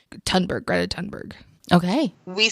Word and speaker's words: Thunberg: I think it's pronounced Thunberg, but it's with a TH. Thunberg, Greta Thunberg.